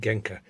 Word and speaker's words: Genco: with the Genco organco I'm now told it's pronounced genka alright Genco Genco we'll leave it at that pinball and